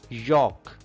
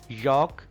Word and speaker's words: yolk: Yolk. Yolk. L is silent here.